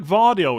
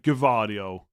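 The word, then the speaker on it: Gvardiol: It's like Vardio as well. I'm pretty sure Vardio is correct. And I still hear some people say like Gavardio like they're really pronouncing the G.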